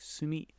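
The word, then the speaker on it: 墨: An ink stick, pronounced sumi, on top, then a scroll, makimono, in the middle, and a fan, sensu, at the bottom.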